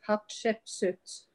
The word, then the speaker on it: Hatshepsut: And I want to tell you what goddess, you couldn't pronounce the name, it's Hatshepsut.